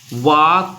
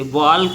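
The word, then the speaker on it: walk: वाक में यल जो है तो साइलेंट है, क्या साइलेंट है, यल। वाक पढ़ते, वाल्क नहीं पढ़ते इसको।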